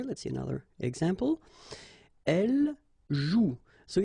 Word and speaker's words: joue: And it's exactly the same rule, so you've got this after, but then clearly you don't pronounce it, okay? Elle joue.